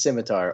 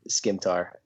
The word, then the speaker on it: scimitar: points all around uh the correct answer is scimitar or skimtar yeah give them give